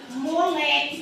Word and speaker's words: moleque: tenho aqui a palavra moleque que foi a que eu coloquei lá no início moleque qual que é a sílaba tônica mais forte é o leque então eu tenho uma